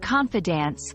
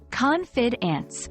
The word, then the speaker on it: confidants: The word confidence, with a stress on the first syllable, confidence, refers to people whom you trust with your personal information, secrets, or thoughts.